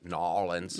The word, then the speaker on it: New Orleans: New Orleans, which you have to you have to say it right. New Orleans. New like a choking on a peanut.